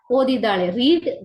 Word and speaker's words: read: So according to the sentence tenses we use or pronounce it differently. Present tense ಅಲ್ಲಾದ್ರೆ read ಅಂತ pronounce ಮಾಡ್ತೀವಿ, past tense ಅಲ್ಲಾದ್ರೆ ರೆಡ್.